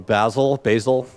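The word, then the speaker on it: Bazel: So Buck uses Skylark from Basil is how you pronounce it.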